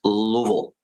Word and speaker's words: Louisville: It's it's Louisville.